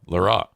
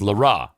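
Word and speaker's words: L'Heureux: And the pronunciation guide had it as Leroux. It said LE-RUH. So Leroux?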